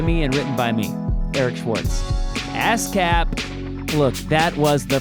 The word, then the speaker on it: Eric Schwartz: It's pronounced Eric Schwartz.